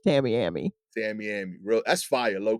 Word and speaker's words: Tamiami: I think that was a bit more, to Yeah, Circle K gas station on South Tamiai. I'm mispronouncing it every I think time. that's Tamiami. Tamiami.